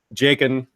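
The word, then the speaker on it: Jaqen: We had Jakin, who I know is on the TV show as Jockin, but we named him before the TV show came out. I didn't know how to pronounce it.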